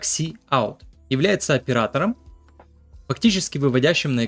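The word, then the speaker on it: cout: Out вывод на консоль производится произносится как C Out является оператором фактически выводящим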